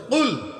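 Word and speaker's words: قل: আমার সাথে উচ্চারণ করেন, বলেন না জোরে, কুল। আচ্ছা, এটা হলো বড় কফ, আরেকটা আছে ছোট কাফ। কুল কি? কাফ আর কফ পার্থক্য আছে না?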